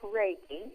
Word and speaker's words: Reiki: medical practitioner and also reiki energy healing yes pronounced reiki yeah reiki um when you meet somebody uh